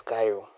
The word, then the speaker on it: chiral: So let me just write for you the word Cairo. So Cairo we just remove the Yeah. So Cairo is written like this not we pronounce this as Cairo.